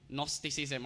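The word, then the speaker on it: Gnosticism: colosa kadungog namantay nosticism nosticism or g start pero nos ang pagka-pronounce sa first nosticism o more si opposite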